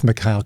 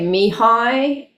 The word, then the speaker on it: Mihaly: I just know that you worked with Mihaly.